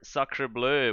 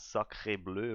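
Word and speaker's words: sacré bleu: Yeah, so your first win, you will play against Monarchs with Psycho Demon or Sacre Bleu with Prox and Hyphenated.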